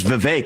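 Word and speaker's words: Vivek: open up I say my name's V it rhymes with cake it ain't about the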